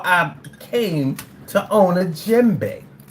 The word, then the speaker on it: djembe: It's called a djembe. A djembe is spelled D-J-E-M-B-E.